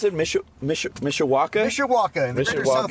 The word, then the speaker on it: Mishawaka: How do you pronounce it? Mishawaka? Mishawaka, in the Greater South Mishawaka.